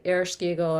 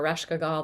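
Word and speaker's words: Ereshkigal: gulagana her um and Irish eagle or rashkeagal there's different ways people pronounce that uh the queen of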